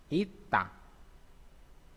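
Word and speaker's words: 있다: Ini isda. Tulisannya isda ya. Isda. Isda. Bacanya ita. Lagian susah juga ya. Isda. Ita bacanya.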